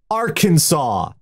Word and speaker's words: Arkansas: ireland one is pronounced kansas the other is pronounced arkansas yeah it's not kansas and arkansas it's not